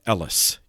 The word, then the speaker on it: Elis: I've also seen it spelled with an N at the end, Pyrrhon. He was from Elis, E-L-I-S.